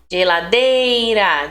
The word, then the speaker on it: geladeira: Identifique a sílaba tônica das seguintes palavras, ó. Olha aqui, fênix, fê, né? Sozinho, o zi. Geladeira, dei.